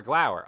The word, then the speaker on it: glower: Oh, glower. So flower, glower. Okay, I get you.